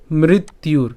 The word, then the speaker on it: মৃত্যুর: এখানে এই যে মৃত রয়েছে এবং যে জফলা এবং রস্যৌকার, এটাকে যদি আমরা একসাথে উচ্চারণ করতে যাই তাহলে এর উচ্চারণ কেমন হবে? ইউ। এবং এখানে যে রেফ আছে, তাহলে রেফের উচ্চারণ হসন্ত যদি উচ্চারণ করি তাহলে একত্রে উচ্চারণ করলে উচ্চারণটা কেমন হবে? মৃত্যুর।